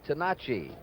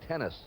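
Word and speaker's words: Tenace: He says the correct pronunciation is Tenachi. Fury Gene Tenachi is his name, but he has anglicized it now to Gene Tennis.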